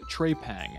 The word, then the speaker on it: Trepang: puts away just kidding it's actually pronounced Trey Pang as in you dropped your metal tray against the floor like our first objective